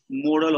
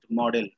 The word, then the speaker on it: modal: Then there is the use of modal auxiliaries. Modal auxiliaries. People generally pronounce it model. It's not model auxiliary, it's modal auxiliaries.